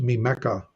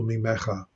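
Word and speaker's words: מִמְּךָ: Okay, so it will be pronounced mimeka. According to the Masoretic vocalization, it will be mimeka as opposed to mimecha.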